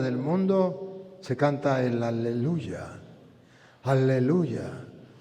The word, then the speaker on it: aleluya: Y de allí que los salmos hablan del aleluya y el Apocalipsis habla del aleluya, no habla de aleluje, habla de aleluya, aleluya es Yahvé, no Jehová, no se dice alelu sino aleluya.